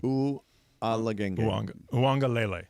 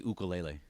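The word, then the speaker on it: Uiagalelei: UA Wonga leel Lela Lele U Anga Lele UA Wanga LEL yeah don't be like Cappy and say ukele no no I didn't I didn't yeah the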